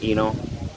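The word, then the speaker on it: Inoh: This is Eno Mark 29. Can call me Eno.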